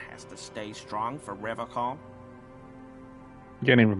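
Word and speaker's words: Revachol: But someone has to stay strong for Revocol. You can't even pronounce it right. He pronounces Revocol with a hard K, unlike other people.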